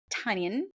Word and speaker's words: Tynan: Is Kate Tynan, right? Did I say it right? No. Yeah, Kate almost. Tynan.